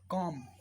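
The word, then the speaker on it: comb: एक बार होता है सी ओ एम बी कॉम कॉम कॉम कॉम कॉम कॉम कॉम में नहीं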